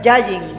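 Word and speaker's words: יין: palabra Cómo se dice yayin Yay yayin como si fueras decir yayita pero pero no es yayita la novia de Condorito sino yayin Yay Yay esas palabras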